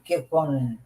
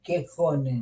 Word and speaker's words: Kekkonen: Finlândia, Cabral, e foi recebido pelo falecido presidente Kekkonen.